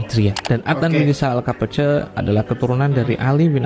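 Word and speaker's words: Kapıcı: Ini bacanya bukan Al-Kopiji tapi Al-Kapace, karena di sini kata berbahasa Turki yang berarti pembuka pintu, yaitu Al-Kapace.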